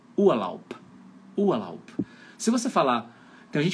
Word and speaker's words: Urlaub: Então, um exemplo que eu gosto de dar é na palavra Urlaub. Termina com B de bola, mas o som é de P de pato, um P mudo, né? Urlaub.